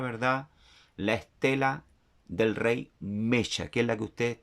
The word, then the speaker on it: Mesha: Se llama, ¿verdad?, rey Mesha, no Mesa. ¿Por qué? ¿Verdad? Explico. La palabra S para nosotros, ¿verdad?, es Shin, ya, en hebreo. Y la palabra Shin lleva un punto al lado derecho.